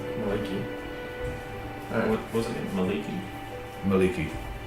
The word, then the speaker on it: Mielikki: She's known as Maliki. Maliki. What was it? Maliki? Maliki. I'll just spell that for Mielikki.